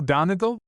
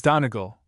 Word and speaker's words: Donegal: Do you know Donegal? Asked I of the waiter, giving to my pronunciation of the word a long second and a short third syllable.